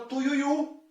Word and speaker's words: tuiuiu: Tui, ui, u. Perceba que o mais forte é a última sílaba, o u. O tuiuiu. Esse u se prolonga por mais tempo. Certo? Então nós temos aqui uma oxítona.